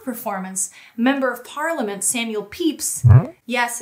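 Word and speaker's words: Pepys: member of parliament samuel peeps yes it's weirdly pronounced peeps described it as the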